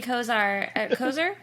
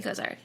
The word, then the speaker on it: Kosar: It reminded me of Bernie Kosar. Kosar? Am I saying it right? Kozar, yeah.